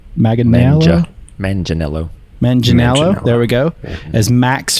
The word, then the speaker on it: Manganiello: be honest with you i always get his name wrong joe magnelo megan male man janello manginello there we go as max fist skylin brooks